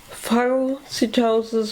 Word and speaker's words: phagocytosis: Phagocytosis or phagocytosis, both pronunciations are possible.